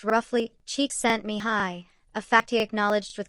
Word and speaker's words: Csikszentmihalyi: Mihai Csikszentmihalyi, whose name is pronounced roughly Csikszentmihalyi, a fact he acknowledged with characteristic good humor,